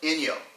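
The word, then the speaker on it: 陰陽: understand yin and yang only in the Japanese it's pronounced in yo in young after reading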